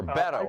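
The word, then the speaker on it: Beto: Beatle roar mm-hmm or battle I guess is how its it's supposed to be pronounced like bet not like bait anyway bet oh yeah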